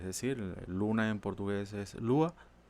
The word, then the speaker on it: Lua: Ellos los investigadores y desarrolladores lo explican aquí, que Lua, pronunciado Lua, significa moon en portugués, es decir, luna en portugués es Lua, y utilizaron ese juego de palabras para nombrar el lenguaje.